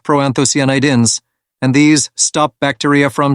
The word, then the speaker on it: proanthocyanidins: care of them cranberries have something called proanthocyanidins pronounced proanthocyanidins and these stop bacteria from sticking to the